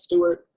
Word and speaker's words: S2ART: You pronounce that S2ART as Stuart.